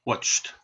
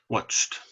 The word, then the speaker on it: watched: it's just e d watched watched now it has ed but we don't pronounce it with two sounds we don't say watching